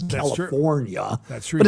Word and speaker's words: California: I don't even say California right. I don't pronounce the R. It's California.